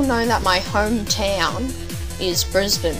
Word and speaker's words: Brisbane: you Americans are so strange right so you pronounce all right so you guys all know that my hometown is Brisbane right right it's not Brisbane or bris Bean